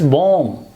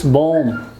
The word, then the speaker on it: bomb: be applied over here by sound will not be pronounced it's deleted it's not pronounced it's bomb it's it's bomb again the same rule will be applied over here this is this bar sound that comes at the end of a word it will not be